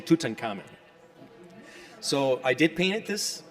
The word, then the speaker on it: Tutankhamun: We say Tutankhamun.